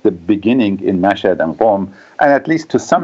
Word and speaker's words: Qom: I would agree with what you said, Ben, because, Mashhad and also Qom, the city of Qom, that's spelled Q-O-M, Qom, in central Iran, are both very religious cities, very traditional sites of pilgrimages for Shia Muslims.